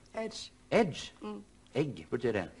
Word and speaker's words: Ege: Hvordan uttales Ege på engelsk? Edge.